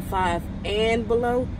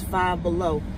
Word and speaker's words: Five Below: that still be here i've been saying five and below is five below and can't what get away you can't see it yeah like i was saying we're getting five below hobby lobby and burlington's